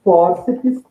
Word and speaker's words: fórceps: tônica é a penúltima, fórceps, terminou em PS, a sílaba tônica é a penúltima, assim como tríceps, sendo